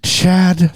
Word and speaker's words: Chad: good friend and cohort Chad we changed my name it's not Chade it's Chad it's Chad Chad right yeah my name going